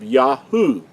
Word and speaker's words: Yahu: With that said, we have the first three letters giving us the pronunciation of Yahu. This letter here makes the U sound.